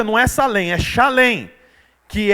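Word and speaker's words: Shalem: chamada Salem que significa paz na verdade a pronúncia não essa lenha chalem que é derivado de Shalom que significa paz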